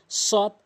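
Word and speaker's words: صاد: থেকে উচ্চারণ সদ সিন সদ সিন একটু পার্থক্য শিখবেন সদ সিন সদটা একটু পুর সিনটা একটু বারিক হামজা আইন এই দুটি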